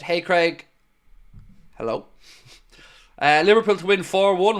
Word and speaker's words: Craig: Or pronounce it Craig. Oh, that's standard. That's standard issue, you know. And it's not just me. It's anyone with my name is pronounced Craig in the States, 100%.